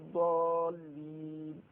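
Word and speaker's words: الضالين: দ্বিতীয় পয়েন্ট হচ্ছে দোয়াল্লিন এবং দোয়াল্লিন এই দুটি শব্দ কাছাকাছি, কিন্তু এর সঠিক উচ্চারণ হচ্ছে দলিন।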